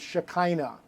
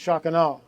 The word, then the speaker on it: Shekinah: it's pronounced the american bastardization of it is shekinah but it's actually pronounced shocking and so when you slow it down shock